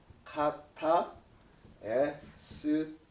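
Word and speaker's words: κατεσθίω: 카타 에스티오인데, 카타라는 말과 에스티오, 자 카타 에스티오 라고 이렇게 발음하는데요.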